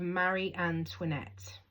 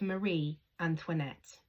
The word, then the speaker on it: Antoinette: They both believed that they had walked into the court of Marie Antoinette.